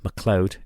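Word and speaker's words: MacLeod: the son of leod became ma leod or McLoud is how we pronounce it you'll often hear the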